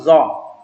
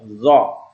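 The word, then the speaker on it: ظ: Tadi kalau ada huruf zal, sekarang ada zo. Ini zal tipis, kalau ini zo mulut kita menjadi bulat pengucapannya. Ya, zo, azimun.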